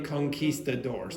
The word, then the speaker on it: conquistadors: To be honest, in English, very often you will say conquistadors. You can say conquistadors, but we pronounce it in an English way.